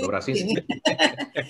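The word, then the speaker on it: Dobraczyński: que un escritor polaco, yo no sé si lo voy a pronunciar bien, Jan Dobraszczyk, no sé si es así que se pronuncia. Todos terminan en Sinsky. Dobraczynski. Okay. Exacto, Dobraczynski.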